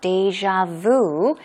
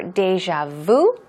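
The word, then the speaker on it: déjà vu: As you can see, it can be pronounced 2 different ways. Either deja vu or deja vu. I think a lot of Koreans tend to say deja vu.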